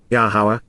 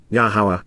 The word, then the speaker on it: Yahowah: Nam to 391 speak prophetically regarding the future yahwah yahwah the proper pronunciation of yahwah based upon his Torah teaching